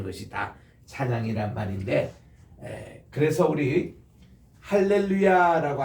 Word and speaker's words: 할렐루야: 야 하는 것은 여호와를 찬양하라 이런 말이거든요 그래서 할렐루야 이렇게 발음을 하셔야 됩니다 따라합시다 할렐루야 할렐루야 그 김삼환 목사님이 뉴욕에 오셔 가지고 대중